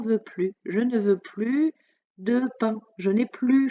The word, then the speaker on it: plus: plus je ne veux plus de pain je n'ai plus faim dans ce cas là on ne prononcera pas de s à la fin de plus on dira plus blanc ça s'appelle un onomatopées